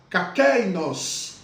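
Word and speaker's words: κἀκεῖνος: Observe como que nós vamos pronunciar kakeinos. Por quê? Porque o primeiro alfa, o primeiro iota e o primeiro épsilon, eles são suprimidos, contraídos, indicado ali em cima do alfa pelo crase, que é semelhante à nossa aspiração branda.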